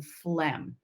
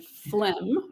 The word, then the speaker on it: phlegm: want to know about why don't we pronounce the g in phlegm why isn't it phlegm well it we used to not write it that way when phlegm first came into the